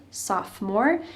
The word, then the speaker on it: sophomore: 10th Grade you're a sophomore notice that the O in the middle of this word is silent sophomore if you're in 11th